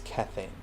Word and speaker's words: Kethane: it kethane but then i heard majira actually pronounce it as kethane so i'm going to take his pronunciation since